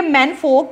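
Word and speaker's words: menfolk: मैन फोक नहीं इसको बोलेंगे, फो इसकी प्रोनाउंसिएशन होती है, मैन फो से यानी मैन फोर्स से यानी मर्दों के ग्रुप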